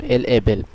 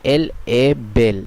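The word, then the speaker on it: elle est belle: এখানে একটি গুরুত্বপূর্ণ জিনিস আপনারা দেখতে পেলেন যে এল এ বেল, এই এর উচ্চারণ শুধু এস তে থাকার ফলে ওটা এ হয়ে যাচ্ছে এবং এর এস তে সাইলেন্ট থাকছে।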